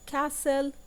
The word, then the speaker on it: castle: here we have talk underline the L and castle with underlining the T and listen also we